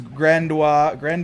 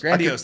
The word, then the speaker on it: Grandiose: it's a fireworks show from the 70s as Grandois It's see. as one of the 2010s. What I wanted Grandiose? to say, Grandiose.